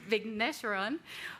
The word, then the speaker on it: Vigneswaran: Vigneswaran, who is co-director of the Institute for Migration and Ethnic Studies.